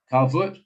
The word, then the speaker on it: Calvert: Calvert, that's pronounced properly. Calvert sounds good to me.